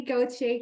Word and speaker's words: Gauthier: You know, your pronunciation is getting better every time you come back from France. So, yes, it's Gauthier here.